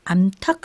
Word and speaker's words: 암탉: 네, 그러면 이번에는 암수 뒤에 닭과 돼지를 넣어 발음해 보세요. 그러면 암탉, 수탉, 암퇴지, 수퇴지 이렇게 발음이 되네요.